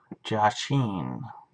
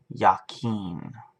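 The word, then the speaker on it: Jachin: Jay a CH n josh een he will establish I'm saying it wrong apparently it's yakeen that's how it's supposed to be said he will establish his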